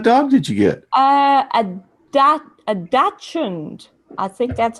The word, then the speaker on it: dachshund: A Dachshund.